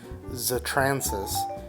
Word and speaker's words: Zatransis: So my name, my online user handle is pronounced Zatransis.